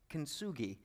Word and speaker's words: Kintsugi: Kintsugi.